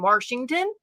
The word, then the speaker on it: Washington: them be just like when people say R in Washington I don't say R in Washington that would rent it